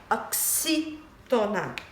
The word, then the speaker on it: oxítona: O X, ele tem som de xi, né? Oxítona.